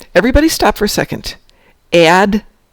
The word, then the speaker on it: Admiralty: Admiralty. Admiralty, not admiralty. There's not an extra syllable in there. It's Admiralty. I know, everybody says it Admiralty. It's not Admiralty!